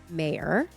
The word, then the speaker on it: Meir: it is with Rabbi mayor like John Mayor John Mayor last time I said